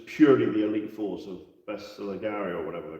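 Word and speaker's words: Bersaglieri: the Elite Force of Bestiligari or whatever they're called. I don't think you pronounce the G actually.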